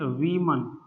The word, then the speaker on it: woman: ठीक है, इन दोनों के प्रोनाउंसिएशन में डिफरेंस है, इसे बोलते हैं वीमन और इसे बोलते हैं, ठीक, डिफरेंस देख लेना, वीमन और वुमन।